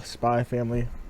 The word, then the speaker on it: Spy x Family: Spy X Family, well, Spy Family, if you don't pronounce the X, blew up, right?